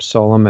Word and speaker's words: Solum: Her name is Celeste Bishop Solum, if I'm pronouncing that correctly.